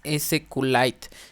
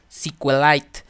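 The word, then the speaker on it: SQLite: es ese q light también se puede pronunciar muchos lo pronuncian como si con light entonces a me gusta ese q light entonces ya lo dejo a su criterio como también quedan pronunciarlo no les les digo es esa de esas son las dos formas en cómo he escuchado que se pronuncia entonces qué es ese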